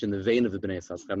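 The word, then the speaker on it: בני יששכר: The sefer Bnei Yisachar, pronounced Bnei Yisachar, even though the name is Yisachar, was written by someone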